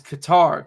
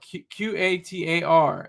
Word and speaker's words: Qatar: The pron proper pronunciation is Qatar. Q A T A R.